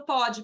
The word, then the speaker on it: pode: Aí tem o pode presente, que é uma pronúncia aberta, e tem o pode passado, que é uma pronúncia fechada.